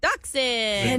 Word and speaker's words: dachshund: Dachshund. Is that how you Repeat.